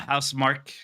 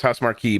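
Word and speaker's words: Housemarque: the new yeah uh house Mark how do you say that actually yeah I always thought was how smart key but it's house mark yeah house mark uh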